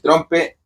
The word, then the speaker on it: trompe: Bueno, el trompe hemos cometido un pequeño error cuando hablamos de los instrumentos mapuche en su pronunciación, en la fonética. El mapuche habla con la TR arrastrada que nosotros la tenemos muy arraigada en nuestro idioma chileno. Ya a esta altura idioma chileno y decimos rompe.